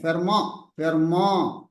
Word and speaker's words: Fermat: Fermat's Educational Academy has put. Yes, sir. It is not Fermat's. T is silent. Fermat's conjecture.